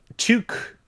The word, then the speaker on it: tuque: yet it isn't uh in quebec tuque uh with like the hard u sound is like what you